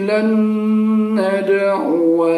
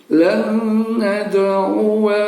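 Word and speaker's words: لن ندعو: membacanya adalah wal ardi lan nad'u min dunihi, dan seterusnya. Jadi ini kita baca pendek saja. Lan nad'u min, seperti itu cara bacanya. Jangan dipanjangin. Jangan kita baca lan nad'u, tidak boleh.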